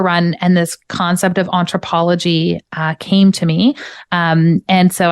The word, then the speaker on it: Entrepology: Anthropology. It was Entrepology.